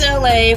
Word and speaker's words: Elay: This is LA, pronounced like LA like the city.